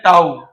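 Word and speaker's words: tau: क्या बोलते हैं, इसका प्रोनाउंसिएशन है टाउ, ठीक है ना, टाइम कांस्टेंट है ना।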